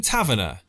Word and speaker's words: Tavernier: Do you call him Taverner? I call him Taverner because of It's definitely not the way it's spelled. Because of the Des Taverner off the bill.